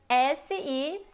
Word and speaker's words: si: A diferença entre XI e SI é que XI, a letra I, mantém a pronúncia de I. Então é XI. Ele tem um pouco de chiado também, né? Como se fosse SHI ou CHI pronunciando em português, tá? É XI, tá? E SI já é sem chiado e a letra I é mais fechada, tá?